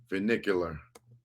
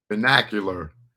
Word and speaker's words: vernacular: Let me get this proper. Venicular. Venicular. I believe that's how you pronounce it. Vernacular. My bad. The language or dialect spoken by the ordinary people in particular country or region.